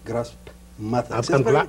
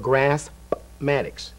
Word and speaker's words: Graspmatyx: You've come up as a new term, a new way of teaching math, and you called it Graspmatyx. I'm glad you pronounced the P.